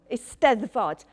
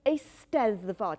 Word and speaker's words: Eisteddfod: It's called an Eisteddfod, and I'm sure you would like to practice saying the word. Yeah, so Eisteddfod. The emphasis in Welsh mainly falls on the last but one syllable.